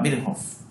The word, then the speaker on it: Virchow: Y Rudolf Virchow, aunque en la facultad nos enseñaban siempre que se pronunciaba Virchow, científico alemán, padre de todos los seres vivos, están formados por células, son los enunciados.